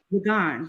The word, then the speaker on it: Ligon: Is that how you pronounce his last name? Ligon.